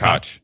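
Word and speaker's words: Koch: Um, was it Ko? Uh, Cotch. Cooper C. Cotch. Yeah. Um, there's like 17 different ways to pronounce that last name.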